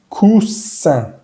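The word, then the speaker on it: coussin: Y la I-N, que la vamos a ver más tarde, es una vocal nasal, va a sonar sonriendo. Cousin, cousin.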